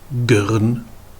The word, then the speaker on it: gern: Eh bien en saintonge, on va intercaler une voyelle entre la consonne et le R, et on va comme ça renverser un petit peu la prononciation. Prenons l'exemple de prune en français qui va devenir pern en saintongé. Graine en français qui va devenir gern en saintongé.